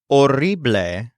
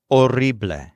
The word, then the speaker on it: horrible: something negatively the word or means horrible this is spelled just like the English word though the H is silent or and just like the